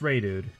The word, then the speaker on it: Reidood: me or anything but that's how you pronounce my name I've heard it so many times pronounced in weird ways and I know my name is spelled kind of kind of funky I totally get that but it's ray dude - you know just